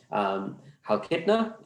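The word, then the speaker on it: Chalkida: Halkidna, the sea is silent in Greek, I've learned.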